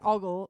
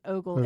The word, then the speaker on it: ogle: I don't say augle I always used to say augle but I think it is Ogle it's like um I